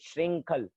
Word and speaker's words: श्रृंखल: री, यहाँ पे री लगा है, श्री के नीचे री, री का उच्चारण आना चाहिए। श्रृंखल, श्रृंखल वेष्टि तांगा।